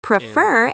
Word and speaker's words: prefer: And practice is also first syllable stressed. How about promise? Prefer is stressed on the second syllable.